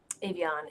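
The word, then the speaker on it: Avión: How do you pronounce that brand? Avion, Yeah, Avion.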